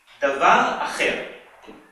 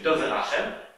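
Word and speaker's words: דבר אחר: Davar Acher, or in its Ashkenazic Yiddish pronunciation, Dover Acher, literally another thing, was the standard euphemism in Hebrew for pig or pork.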